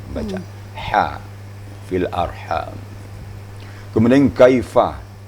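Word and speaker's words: كيف: Kemudian kaifa. Kaifa, bibir harus direnggangkan bacanya. Fa, kaifa. Kemudian yasha, makhrajnya antara lidah dan langit-langit tengah.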